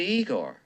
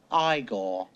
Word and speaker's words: Igor: You must be Igor. No, it's pronounced Igore.